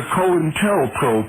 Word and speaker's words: Cointelpro: Vander Wall wrote the Cointelpro papers, documents from the FBI's secret wars against dissent in the United States. The name, the term, Cointelpro, pronounced Co-in-tel-pro, is a contraction of counterintelligence program, which was and likely